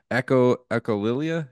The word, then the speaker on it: Echolalia: You know, one body of work I know you're real well known for, I'm probably going to butcher the pronunciation of this, but it's called Echolalia, is that how you say it?